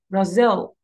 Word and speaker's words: Brazil: But it's not pronounced like this, it's pronounced Brazil. Brazil.